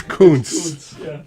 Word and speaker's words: Kuntz: Are you sure you pronounced the last word correctly? Kuntz, isn't it? It's Kuntz.